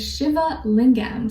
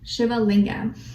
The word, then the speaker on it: Shiva Lingam: Okay, your crystal at this time, or for this next little while, is Shiva Lingam. So it's spelled S-H-I-V-A and then Lingam, Shiva Lingam, and it's associated with the root and sacral chakra.